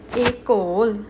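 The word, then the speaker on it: école: it sounds like e it sounds like a a a like say like in say a example one e call EOL means School a coal how we going to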